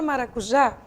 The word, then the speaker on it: maracujá: Essa palavra maracujá, como você está vendo, ela tem a última sílaba como sendo sua sílaba tônica.